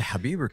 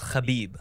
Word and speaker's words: Khabib: that i'm gonna source well that's the that's a like white american version it's it's khabib it's it has to be it's kami i don't know it has to be khabib that's the anglo-saxon version